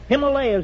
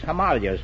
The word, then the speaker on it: Himalayas: Himalayas has gone out of style, too. It's Himalayas now.